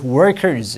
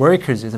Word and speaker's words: workers: great majority workers 이렇게 R 있잖아 이은을 이렇게 구부리고 안 닿게 하는 거 workers 영국발음 좀 약해요 workers 이렇게 할 수 있습니다 우리랑 비슷하게 근데 미국발음 workers 미국 발음이 우리랑 많이 다르기 때문에 좀 연습을 하셔야 workers 그리고 work 이거 아까